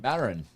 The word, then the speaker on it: Marin: comes back and says, "You guys made my day," but it's pronounced margin. Marin. Marin. It's Marin.